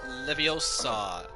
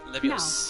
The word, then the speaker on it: Leviosa: Funny, they changed the pronunciation. It's Leviosa. It's Leviosa, not Leviosa.